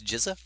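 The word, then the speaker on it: Gishath: week ago so yeah I was calling Gaza for a little while but apparently is jiza so yeah right GZA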